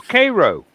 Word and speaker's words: Cairo: Cairo is pronounced differently than how Yeah. a Cairo. town of a similar name in Egypt is pronounced. Yeah. No, it's Cairo.